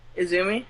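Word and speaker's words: Izumi: Iumi for me. I did pronounce her name right. Izzoomi.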